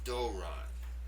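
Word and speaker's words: δῶρον: The pronunciation of this word is doron. doron. That first syllable is stressed.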